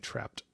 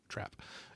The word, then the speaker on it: Trap: think those were oh I guess I mispronounce but that one with Josh Hart and had it's just trap I I think I was saying trapped but trap anyway um that one